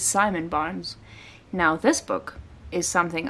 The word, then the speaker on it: Simon Barnes: wrote Rewild Yourself, and I totally read the author's name wrong when I said it was Simone Barnes and not Simon the first time, but it is Simon Barnes.